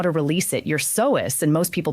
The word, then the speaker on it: psoas: Your soas, and most people pronounce it soas, is a long, deep muscle that runs from